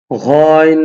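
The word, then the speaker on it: غ: ঘইন দুই পেশে ঘুন, এইটা হলো ঘইন, এটা হলকে শেষ ভাগ থেকে উচ্চারণ হবে।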